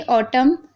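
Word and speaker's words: autumn: अब देखिए ऑटम, column, him, तो यहाँ पर देखिए एम एन से पहले एम है तो यहाँ पर एन साइलेंट है, यानी ना हम नहीं पढ़ रहे।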